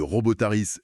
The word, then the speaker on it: Robōtariis: Des bails scientifiques, des fondations techno qui tiennent debout le monde un peu chelou des robotaris. Robotaris. Ouais, faut bien prononcer.